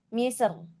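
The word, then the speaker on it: مصر: Ro sukun boleh dibaca tebal atau tipis ketika wakof dengan sukun. Jadi, misr. Misr. Nah, itu dibacanya boleh tipis atau tebal.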